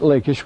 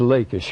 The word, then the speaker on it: Lachish: Between 1935 and 1938, at Lachish were the Lachish letters.